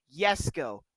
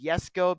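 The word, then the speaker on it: Jesko: I've always called it Jessica ever since I took like talked about this car I would always say Jessica but obviously to the correct pronunciation is yesco because it's Swedish so for those clarifying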